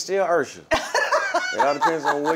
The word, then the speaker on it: Usher: you had to actually sing it it won't mispronounce it it's still Usher it all depends on where you are yeah